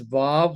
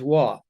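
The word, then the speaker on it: וָו: And we pronounce it today as vav. In the Yemenite dialect, they pronounce it as wa.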